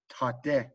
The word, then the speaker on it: tate: You know, tate has both of those, that hard T, ta, and then the soft T, te, tate.